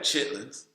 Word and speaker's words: chitterlings: Chitlins, I never ate. I should know what chitlins are, and I don't. What are chitlins? Why should you know? You shouldn't know. It's spelled chitterlings.